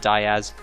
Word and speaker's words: Diaz: Yes, I know he pronounces it Diaz, I'm just messing with him.